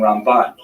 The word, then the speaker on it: Ramban: on the first syllable ran and ran is pronounced with the empis on the second cable rambam and ramban that's also helpful because if you can't quite